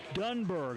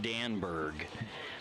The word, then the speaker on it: Dunberg: New pitcher for Pierre will be number 5, Will Dunberg, I believe. What I wrote in my notes doing some research for this, I wrote Danberg, but I believe Tyler Merriam pronounced it Dunberg.